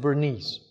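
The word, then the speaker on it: Bernays: So their last name, the Americans pronounce it Bernese.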